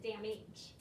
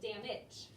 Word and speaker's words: damage: You see the word dam and you see the word H, but we don't pronounce it damage. We pronounce it damage.